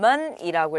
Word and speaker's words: 们: 자, 이런 단어는 먼이라고 읽어요. 경성입니다. 먼이에요.